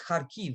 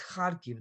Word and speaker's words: Kharkiv: And everyone says Kharkiv, Kharkiv, and that's just wrong. It's Kharkiv. The accent is on the first syllables.